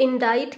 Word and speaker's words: indict: सो इंडाइट का मतलब क्या होता है? इंडाइट में आप देखेंगे सी आपका साइलेंट है, सी का हम साउंड यहाँ से नहीं आ रहा है।